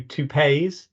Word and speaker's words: TUPE: It's the way most people pronounce the acronym TUPE. Some people call it TUPE, or I've heard a few TUPEs, but I stick with TUPE.